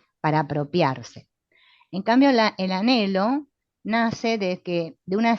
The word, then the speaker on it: anhelo: Este anhelo que se escribe con esa H muda intermedia.